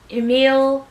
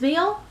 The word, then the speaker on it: Yamile: i recommend furious by emile emil it's meal i'm so sorry not mispronouncing